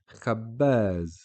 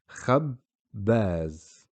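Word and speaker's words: خَبَّاز: So if you listen closely, there are two ba being pronounced. Khabbaz. Okay, and if we break it down here, you will see khabbaz.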